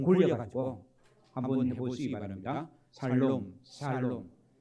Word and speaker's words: 샬롬: 예, 살롬 해도 됩니다. 죽을 놈이 아니고 뭐라고요? 살롬이다 그 말입니다. 그러니까 혀가 잘 돌아가서 샬롬 해도 되고 안 돌아가서 그냥 대충 어떻게 해요? 살롬 해도 된다는 거.